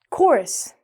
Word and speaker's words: chorus: chemical chorus Mhm, yeah.